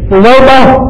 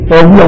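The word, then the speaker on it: ثویبہ: تو سویبہ کا اصل تلفظ بھی آپ نوٹ کر لیں کیونکہ عام طور پہ لوگ عقیدت میں نام ضرور لگتے اپنی بچیوں کا لیکن وہ سوبیہ کہتے ہیں سوبیہ نہیں ہے. سویبہ تا واو یا با ہاں اور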